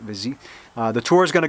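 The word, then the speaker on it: Vizille: I would say Vizil, V-I-Z-I-L-L-E. I think they pronounce it Vizy.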